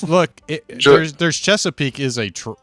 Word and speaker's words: Chesapeake: do you no they Cheapskate but it's not what it's called Chesapeake or just Chesapeake that's how you call it I'm not sure without